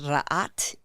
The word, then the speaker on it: Rha: in the comedic lineage uh and language it's pronounced RA in and it means light Supreme bringer of